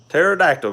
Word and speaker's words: pterodactyl: it after I put the P is silent Oh pterodactyl go to the bathroom